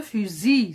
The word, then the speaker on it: fusil: L, j'ai ajouté un L, une lettre muette, et ça donne le fusil. Ça se prononce pas.